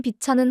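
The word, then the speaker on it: VCHA: 그룹명 비차는 한국어인 비철을 영어식 발음으로 변형해 만들었다고 하는데요. 빛을 비추다에서 따왔다고 합니다. 팬들과 이 세상에 빛을 주다라는 뜻을 담았죠. 영어로 발음하기 좋게 비차로 표현한 것입니다.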